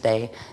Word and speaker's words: Te: the T, or the day. It's actually pronounced day, but it's spelled the T-E, and that's what is used as in the martial arts training and stuff.